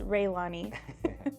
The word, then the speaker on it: Raelani: and if you don't know, her name is spelled Raelani. So most people don't know or even know how to pronounce it, so it is Raelani.